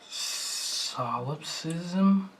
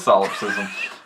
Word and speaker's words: solipsism: wrong button I have I feel like solop systm should start with a P like a silent P like PS o no it doesn't l o no it